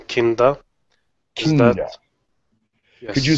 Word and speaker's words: Kinda: I just wanted to say that I have given my daughter the name Kinda. Kinda. Yes. Could you spell that so they have it written correctly?